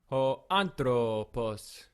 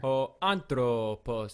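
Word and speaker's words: ὁ ἄνθρωπος: Ho anthropos. So hopefully you've heard the pronunciation there. Ho anthropos.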